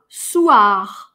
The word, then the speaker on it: soir: Уа, уа, уа, soir. Это «г» на конце, на самом деле оно не «р», оно очень глухое, его даже опускают, его кто-то даже не слышит.